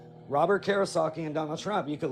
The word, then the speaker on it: Kiyosaki: And you're by the way, it's Kiyosaki.